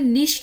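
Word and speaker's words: nicht: तो जर्मन में भी जो है 95% निश्ट ही बोलते हैं, लेकिन 5% ऐसे हैं कि वो निख्ट बोलते हैं।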